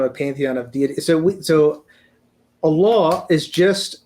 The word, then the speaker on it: Allah: And and it's pronounced Allah.